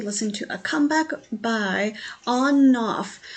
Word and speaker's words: ONF: So we are going to listen to a comeback by ONF. I'm pretty sure you say it like you turn the switch on and off instead of ONF.